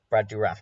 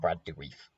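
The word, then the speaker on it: Brad Dourif: do raph never mind okay brad duraff not brad do reef another one of those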